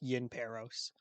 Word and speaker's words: Yin Peros: Just if you look at the name, it looks confusing, but I decided it's pronounced Yin Peros. Yin Paris.